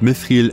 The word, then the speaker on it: Mithril: Edelsteine sondern auf mitr das Wort mithriil entstandmt der elmsprache Sindarin und wird deswegen mit einem englischen Th anstelle eines deutschen te ausgesprochen in der deutschen Synchro der Filme wurde darauf leider kein Wert gelegt darüber hinaus kamen die